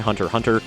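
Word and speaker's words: Hunter × Hunter: of my head because they're actually pronounced Spy Family and Hunter Hunter. The X is silent.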